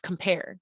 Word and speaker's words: compare: then we have compare compares one word that has two syllables compare we can hear in the beginning that c-o-m is getting cut off for the p compare that air in the last syllable stretches out so that's our that's our stress syllable for this i am right so